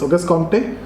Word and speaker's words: Auguste Comte: Auguste Comte, the founding father of sociology, claimed to have developed laws of universal laws of social organization.